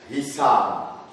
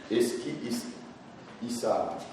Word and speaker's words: Eskihisar: Voilà, les Turcs appellent ces lieux aujourd'hui, est appelé Eskihisar. Ça s'écrit E-S-K-I-H-I-2-S-A-R. Eskihisar.